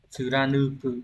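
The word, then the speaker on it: 貫く: Nếu như một người Hitorinoni ga jibun no ikikata o nura, cái này lại quên mất cách đọc cái này rồi. Tsura tsuranuku, đúng rồi, tsuranuko.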